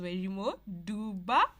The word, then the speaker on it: Wairimu Nduba: Her name is Wairimu Nduba. Is that how you pronounce your name?